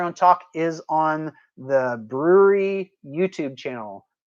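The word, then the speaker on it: Bruery: talk is on the brewery YouTube channel that is BR u e ry if you're not familiar with them it's not spelled like the word actual word brewery so go to the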